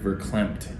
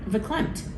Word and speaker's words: verklempt: You used the word verklempt yesterday. Verklempt.